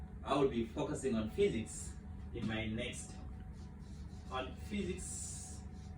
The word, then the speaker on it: physics: And so today, I just want to briefly take us through physics, as a catchy introduction to those people who are getting this word for the first time. Physics, this PHY is pronounced as F.